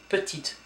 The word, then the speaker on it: petite: And you do pronounce the T here. So petit, petite. Masculine, feminine.